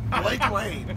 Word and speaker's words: Blake Lane: If I'm going to throw the name out here, it rhymes with fake Blaine. Okay, Blake Lane.